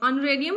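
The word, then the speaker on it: honorarium: Next है ऑनरेरियम। ऑनरेरियम का होता है मानदेय। यहां पे एच साइलेंट रहता है।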